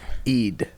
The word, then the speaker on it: Eid: Ramadan, and then there's Eid. Eid is Eid? Eid is How do you spell that?